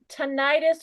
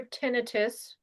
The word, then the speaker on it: tinnitus: Well, Um, tinnitus or tinnitus. I've seen people pronounce it all different ways.